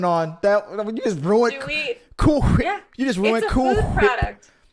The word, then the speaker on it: Cool Whip: That you just ruined cool whip. You just ruined food product. Cool whip. Food product. And it's it's pronounced cool whip. You got to put emphasis on the H.